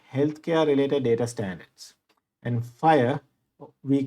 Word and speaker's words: FHIR: related data standards and fire we call it even though this is fhir we pronounce it as fire it is one of